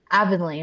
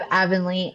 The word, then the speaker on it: Avonley: Um Aanly, right? I said it right. Yep. We have Aanley.